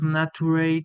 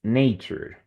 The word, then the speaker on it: nature: you think contact with Nate is important for a healthy lifestyle and do you have such contact contact very good the the pronunciation is nature ready so do you think